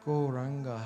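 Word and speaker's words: Gauranga: a proper meditation technique goranga has four syllables on so we are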